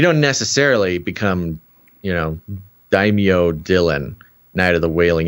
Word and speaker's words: daimyo: round table called uh daimyo daimyo am i saying that correctly sure can i say it like that is that racist no it's the right way to pronounce it i think uh there